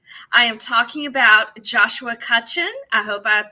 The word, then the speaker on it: Cutchin: and the Beast I am talking about Joshua kutchen I hope I pronounced your name right okay he nodded and